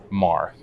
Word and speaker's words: Maher: it really ok so tell me the exact pronunciation of your name Mar okay so make her make her uh her